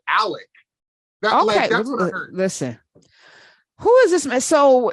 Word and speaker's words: Alex: um I also think even though it's spelled a-l-e-x I think he pronounces it Alec listen who is this